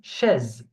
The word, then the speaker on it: chaise: So we have une chaise, une chaise. You hear me? So S, when it is between two vowels, it's pronounced Z, like a Z sound, okay?